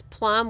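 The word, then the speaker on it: plumb: perfectly straight vertically and that's Plum which is spelled p-l-u-m-b as in boy and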